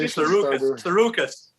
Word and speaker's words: Tsarouchas: I pronounce it Tsarouchas. Tsarouchas. So I think it's Tsarouchas.